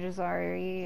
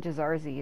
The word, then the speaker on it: Jazari: very very happy Mr jazari is I keep wanting the calling jazarzi and that's why I'm screwing myself up when I go to say his name um it's probably still